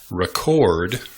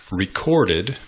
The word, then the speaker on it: record: s the rule is you pronounce the noun by emphasizing the first syllable you pronounce the verb by emphasizing the second syllable sorry I had to